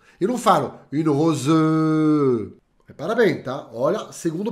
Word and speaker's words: rose: por exemplo uma rosa Rose eu não falo Rose Repara bem tá olha segundo padrão para você vou repetir para vocês tá um e no final de uma palavrinha não costuma ser pronunciada bem de leve Rose